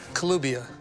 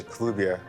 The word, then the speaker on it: Kelubia: Kelubia. Yes. I'm pronouncing it right. Yeah, Kelubia.